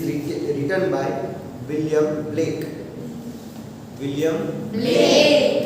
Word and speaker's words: Blake: William Blake. Not Black. It is not a B-L-A-C-K. It is B-L-A-K-E. So William Blake.